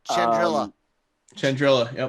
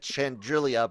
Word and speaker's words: Chandrila: the enemy one either chandrila yeah you got it right i think i said i i think i'm miss prince i think i said chandrilia but the ch chandrill